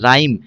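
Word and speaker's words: rhythm: राइम राइम में H silent होता है।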